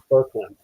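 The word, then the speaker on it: Boecklin: Yeah, well, it's spelled Vokeland, but I found out that it's pronounced Berkland.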